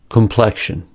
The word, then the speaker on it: complexion: Anxious, complexion. The letter X in these words is pronounced with two sounds, ksh.